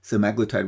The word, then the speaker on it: semaglutide: So I'm going to pronounce it semaglutide because I think that's how most people pronounce it.